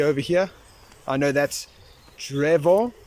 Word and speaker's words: drzewo: I know that's drzewo.